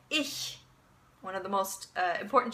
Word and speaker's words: ich: in German okay now when you make that sound you make that sound when the CH is preceded by e a boy or I okay and I'll give you a couple of examples so that you can practice so we have ich one of the most